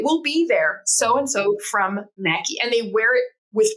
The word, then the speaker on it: Mequi: And the name that was most popular was Mackie, which was how they would pronounce just Mac in Brazil.